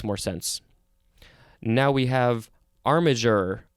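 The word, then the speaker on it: armiger: sense now we have armager or armager g e a-r-m-i-g-e-r this is a noun from 1577. one we have the synonym squire and two uh it says one entitled to bear heraldic arms armageral are armager roll armid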